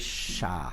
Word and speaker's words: Shabbos: Or Yesha is that Shabbos is always pronounced with a patach. Sfardim and Ashkenazim. People say Shabbos or Shabbat, but it's always Shah. When you want to make people quiet, what do you say? Shah. Shah. So Shah, he says, is